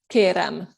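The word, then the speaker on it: kérem: then use the verb kerem kerem with an m at the end est keren i want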